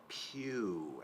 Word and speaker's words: pew: Pew actually has that U in it, so it's that long U. So even though it's spelled E-W, it's P long U.